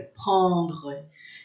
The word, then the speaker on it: prendre: falava para mim, olha, raspa a garganta, é uma palavra forte, que a gente não faz bico, é prendre.